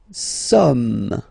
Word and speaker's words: sommes: Nous sommes, okay? Nous sommes, okay? So you don't pronounce the final S here.